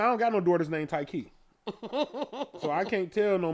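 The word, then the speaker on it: Ticie: know what I mean they'd be like TC when it spells t-i-c-i-e but I always say it's like a tie in the key Thai key so after you know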